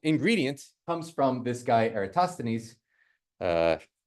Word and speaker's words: Eratosthenes: comes from this guy ostanes uh a Greek friend of mine said Oh you mean Eris so apparently that's how you say it um he actually had